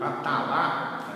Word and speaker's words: Atala: Então, por exemplo, na sua novela Atala, ou Atala, se preferirem a pronúncia em francês, ele descreve uma situação